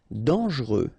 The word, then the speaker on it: dangereux: cruel remember cruel cruel dangereux final x not pronounce don't really pronounce this here ok dang dangereux mort final